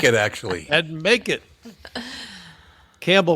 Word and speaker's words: Campbell: Campbell, of course, rhymes with gamble.